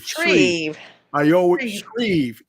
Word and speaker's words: Shreve: Shreve, like Eve, but got it.